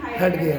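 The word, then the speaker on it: Heidegger: आते हैं Martin हेडगेयर, हाइडेगर, जिन्होंने बीइंग एंड टाइम 1927 में लिखी।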